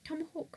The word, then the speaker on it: TMHWK: Its name was now spelled Tomahawk without the vowels, but pronounced the same. So it was spelled TMHWK. It was also purple. After not being selected for Series 8, Tomahawk returned for Series 9,